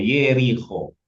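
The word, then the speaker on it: יריחו: Kota jerikho yeriko. Kalau dia di awal maka dia harus bunyinya e.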